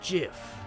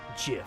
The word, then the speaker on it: GIF: It's pronounced GIF. Huh? GIF like the peanut butter. The creator said so.